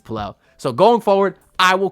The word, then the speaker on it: Pelle: that in an interview with pel Larson he pronounced his name pel I've had some people say it's p I've